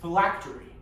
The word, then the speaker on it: phylactery: Miss Park, the word is phylactery. Phylactery. Am I pronouncing that correctly?